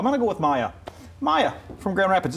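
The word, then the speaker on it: Maia: Maya from Grand Rapids. It's spelled M-A-I-A. Yeah. So I'm going with Maya.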